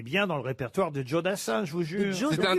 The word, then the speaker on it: Joe Dassin: l'américaine joe dassin américain joe c'est pas jo c'est pas un prénom français voyez ce que je veux dire donc ça se prononce à l'américaine joe dassin ce que jules dassin